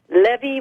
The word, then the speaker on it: Levy: Is it Levy or Levy? Levy rhymes with Chevy.